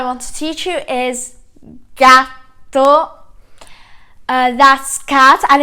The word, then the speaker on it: gatto: So the first animal I want to teach you is gatto. That's cat and it has double T, gatto.